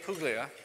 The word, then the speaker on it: Puglia: Our panelists this morning are Rick Clausen, Leo Wallach, and Puglia. I tried to say that right, it's the soft G.